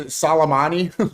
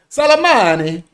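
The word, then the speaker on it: Soleimani: If she was a real Iranian, she Salammani, say it like an Italian. Salmani offtheed him because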